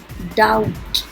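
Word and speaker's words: doubt: इसमें B silent है, डाउट.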